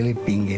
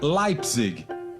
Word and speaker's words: Leipzig: para a professora Simone todo mundo pronunciava de forma errada o sobrenome de Adolfo o correto seria leipzig e leipzig seria um sobrenome